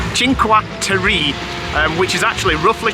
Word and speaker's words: Cinque: journey to something called do you know how to pronounce it Sinker no chinker chinqua um which is actually